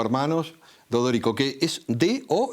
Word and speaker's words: D'Odorico: Es Dodorico y se pronuncia tal cual está escrito.